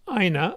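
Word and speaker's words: IINA: alternative to microft office sweet so this is pronounced Ina I think it's similar to VC which you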